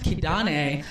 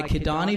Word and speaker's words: Kidane: you know it's funny it's pronounced my my dad's from eritrea right it's pronounced kidane but since a kid i've always gone by kidani because i thought it sounded too girly how whitewashed is that